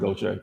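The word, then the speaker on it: Gautier: that though you know what i'm saying they pronounce it go check don't treat me that's what i'm here so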